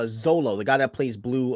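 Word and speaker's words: Xolo: great actor I think I think it's pronounced cholo no it's uh Zolo the guy that plays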